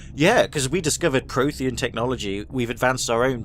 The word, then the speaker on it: Prothean: It was Prothean. Prothean? I thought the Protheans vanished 50,000 years ago. Prothean, that's how you pronounce it, sorry.